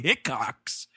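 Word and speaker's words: Hickox: on Earth from 1992 directed by Anthony hickcock I love names like that because it just sounds like hiccup yeah a little bit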